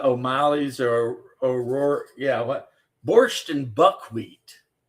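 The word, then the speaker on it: borscht: But actually the corre correct pronunciation, you don't say the T.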